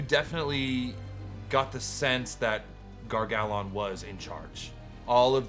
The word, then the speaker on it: Gar-Gal-Onn: Gar-Gal-Onn. Or phonetically, Gar-Gal-Onn.